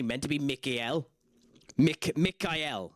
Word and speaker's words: Michael: that has the name Michael. Um, Michael is actually meant to be Mikuel. Mik Mikel. Mikel is meant to be how you pronounce Michael.